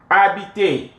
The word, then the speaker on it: habiter: Habiter. The H is silent. Habiter.